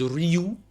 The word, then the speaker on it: Ryu: We call him Ryu. I think the correct pronunciation is Ryu, but we call him Ryu.